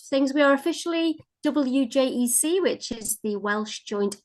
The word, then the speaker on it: WJEC: there a conversation before we started it's officially wjec I've been saying reject as a teacher oh not like 15 years